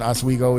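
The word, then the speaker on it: Oswego: that a kid from a local uh town as Wego is is getting his chance with a local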